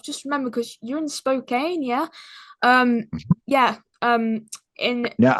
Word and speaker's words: Spokane: And I've just remembered because you're in Spokane, yeah? Um, yeah. In Now I is it have to tell you, we could tell you ain't from around here because here we pronounce that Spokane. Spokane?